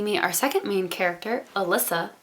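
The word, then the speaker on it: Elissa: our second main character alyssa i mean that's how i pronounce her name it starts with an e-l-i-s-s-a that's not what it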